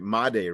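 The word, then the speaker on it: Jesús Made: It was it was what miday right?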